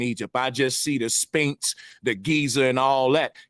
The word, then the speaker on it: Sphinx: Sphinx and the Sphinx bro Sanchez says pinks pinks he doesn't know it is pronounced Sphinx I mean just listen